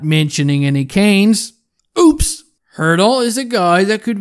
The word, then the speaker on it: Hertl: the nhl that has a name that rhymes with squirtle and of course i'm talking about the san jose centerman thomas hertl let me try and